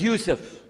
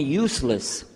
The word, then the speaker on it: Yusuf: son I'm a lagoon my name is Yusuf he say Yusuf make sure you sit you're very good I wish you teach my wife she keeps mispronouncing it she calls me useless HMDA left now